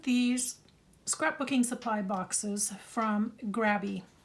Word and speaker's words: Grabie: scrapbooking Supply boxes from grabby I always want to say gravy because phonetically there's only one B but it is really pronounced gravy they reached out to